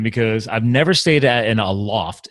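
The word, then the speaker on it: Aloft: I've never stayed in a loft. It's actually pronounced a loft, right? Not a loft. So I pronounce it a loft. Yeah. Yeah. A-loft. Okay. So a loft is this.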